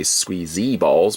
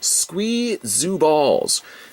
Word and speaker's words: Squee ZOO Balls: be saying it wrong i always of course want to say squeezy balls but squee zoo balls now there are again